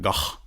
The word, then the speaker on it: van Gogh: Vincent van Gogh. Did you know that that's how you're supposed to pronounce it?